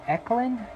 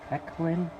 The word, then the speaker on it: Ekylin: hooked it up um i think the pronunciation is eclin e-k-l-y eclin anyways you'll see them